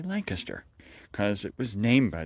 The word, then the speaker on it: Lancaster: which of course, yes, we pronounce it just like the English. We don't say Lancaster, like an American would. No, we say Lancaster, because it was named